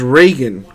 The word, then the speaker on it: Reagan: Also, it's pronounced Reagan. Gotcha. So I've been saying it right.